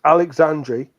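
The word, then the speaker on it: Aleixandri: Well, no one says it as a sh, do they? It's Alexandri.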